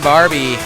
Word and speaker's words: Barbie: be looking for Ben Barbie. How do you pronounce his last name? He pronounced his last name like the doll, Barbie. All right, he clarified just so we wouldn't mess it up. Ben Barbie.